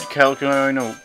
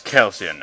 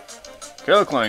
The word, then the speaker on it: Kecleon: I'll continue to pronounce it as Kelsian. I don't care that it's the wrong way.